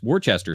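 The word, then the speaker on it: Worcester: you're when you're in Ocean City Maryland it's Worchester Street yeah it's pronounced and they all say it that way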